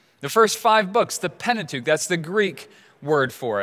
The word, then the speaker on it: Pentateuch: And the Pentateuch, the first five books, the Pentateuch, that's the Greek word for it. Penta meaning five, and what we pronounce as tuch meaning scroll.